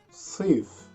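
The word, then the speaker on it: صيف: is summer summer in egyptian arabic is swift sif don't say see if sith is another word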